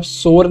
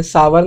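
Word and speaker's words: sour: अब आप बोल रहे हैं भैया आप सोर नहीं बोल रहे हैं, सावर नहीं बोल रहे, आप सावा बोल रहे हैं। तो इसका यह करेक्ट प्रोनाउंसिएशन यही होता है, हम इसको सोर नहीं बोलते हैं, सावा बोलते हैं।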